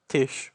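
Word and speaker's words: Taije: read the novel but this character is called Tish Miner though uh her name is spelled t-a-i-j-e uh long story for that one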